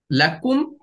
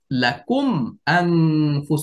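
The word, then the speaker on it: لكم: যেরকম হামজা আসছে এখানে লাকুম মিম সাকিন আসছে প্রথম শব্দের শেষ হরফে দ্বিতীয় শব্দের শুরুতে হামজা আসছে এইজন্য গুন্না ছাড়া স্পষ্ট পড়ব যেমন লাকুম আমি যদি গুনা করে পড়ি লাকু সেটা ভুল উচ্চারণ হবে।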